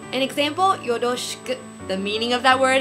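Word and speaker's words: よろしく: A lot of people pronounce it like the English R, or they try to roll it like the Spanish R, but according to the standard Japanese accent, that's not quite right.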